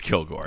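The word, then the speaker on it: Kilg%re: First question from Ranger Gord, who asks, how do you pronounce, and I'm assuming this is Kilgore. Oh, well, right, because it's got the percent Yeah. in the name. That's Kilgore, right? It is Kilgore.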